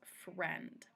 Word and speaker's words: friend: and that word is friend so we have um the i in here but it's not heard for end it's kind of a silent eye it's not a long